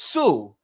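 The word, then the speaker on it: Sioux: Uh is a famous Indian tribe out west pronounced Sue.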